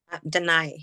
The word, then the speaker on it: Danai: I pronounce it correctly deny is my first name that's but most people call me Danny because it's it's hard for yeah Danny so Danny's fine okay where are you from